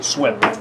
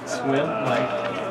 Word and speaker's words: Sweum: How do you say that last name? Swim. Swim. Yeah, Licks. Yeah, exactly. SWEUM.